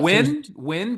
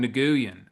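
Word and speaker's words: Nguyen: Oh, Win. Kevin Wyn or um I used to call him Naguan, but it was I think it's called his name is pronounced win.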